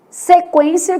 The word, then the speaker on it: sequência: Então, a gente tem quero, que o U é nulo, sequência, que o U é semivogal, e averigue, que o U tem um som forte, né?